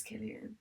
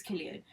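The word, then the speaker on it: Cillian: how you pronounce him is it sillian no I thought it was kilan no I think it's Killian yeah I think it's Killian he for stars is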